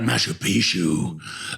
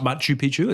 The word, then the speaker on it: Machu Picchu: Um, one of the main things we learned, um, was about Mashup Pishu. Um, how it was built or how to say it even. I mean, that's how you say Mashup. Not Machu Picchu.